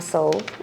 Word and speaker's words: Soul: And I'm Soul. What's good, everybody? You said soul or what? I am Soul. How do you spell that? S-O-U-L, like your heart, mind, and soul.